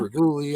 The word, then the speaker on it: Reguli: Like regular. I always tell people like regulate.